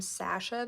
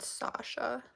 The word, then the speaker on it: Sasha: I pronounced my name Sasha though, not Sasha.